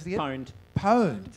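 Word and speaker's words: pwned: Poned. Poned. So P is P and O at the same time.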